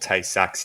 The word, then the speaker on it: Tay-Sachs: I don't even, Tay-Sachs, I might even be not pronouncing it correctly. Help me. No, you're spot on. It's called Tay-Sachs disease.